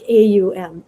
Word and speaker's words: Om: containing it's very interesting when they say it in sanskrit it sounds like three separate syllables blended into one own like a-u-m um we don't have so much of a diphthong in english so we say om right o m but that